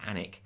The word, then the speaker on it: Alnwick: it was filled at Alnwick Castle pronounced annek don't ask in Northumberland